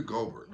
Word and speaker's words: Gobert: Rudy Gobert.